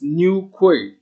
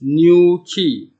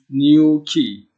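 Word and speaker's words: Newquay: was calling this place new qu well that is the wrong pronunciation it's actually pronounced as new key so the name of this town is called new key if you can delete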